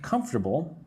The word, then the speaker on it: comfortable: Is the pressure comfortable or would you like it lighter or firmer? Again, we have this word comfortable. Comfortable. When I say that word, I say it with three parts.